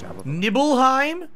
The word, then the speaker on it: Nibelheim: Wasing as hell heart Nim no nibble it's nibble nibble Heim like you're nibbling on